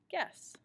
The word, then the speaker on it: guess: the word the word guess guess gu ESS guess you don't really hear that you it's just a placeholder it's a hard G the next one I